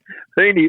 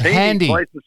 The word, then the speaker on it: Heeney: If you pronounce the names correctly, Doug, I can give you an accurate answer. I've never heard of Handy. He's Heeney.